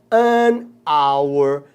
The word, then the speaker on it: hour: ano abre off porque porque o h e é mudo tinha que ele não tem o som do r o h que é mudo é como se a palavra começar assinou ó como é que é só se não é hour ou nesse Man you